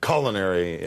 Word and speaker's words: culinary: she said the international Culinary Institute whatever I said very interesting uh do do you know that the primary pronunciation of that word is culinary do you know that